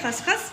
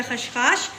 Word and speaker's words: खसखस: और ये मैंने ले लिए है खसखस या खशखाश, जो आप इसको प्रोनाउंस करें।